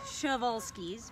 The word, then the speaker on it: Przewalski: but this is the schevolsky schevolsky horse technically correct so uh it it's pronounced chevalski's but it starts with a p as you can see